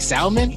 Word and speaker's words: salmon: Like salmon. Come on. Salmon. Did you just pronounce the L in salmon?